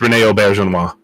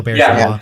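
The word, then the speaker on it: Auberjonois: I think it's Rene Auberginois. Yeah, Auberginois. Yeah. Auberginois. Yeah, because it's French.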